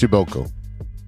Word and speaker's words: Przybylko: how they said it because it's spelled PRZYBYLKO, but it's pronounced Schibelko.